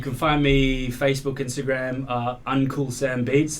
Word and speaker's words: Uncool-Sam: You can find me Facebook, Instagram, Uncool-Sam Beats. That's like Uncle Sam, but it's spelled uncool because I ain't cool.